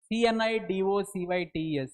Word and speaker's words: cnidocytes: Cnidaria means uh those organisms which have cnidocytes. C N I D O C Y T E S. Cnidocytes. The C silent once again. You shouldn't pronounce this word.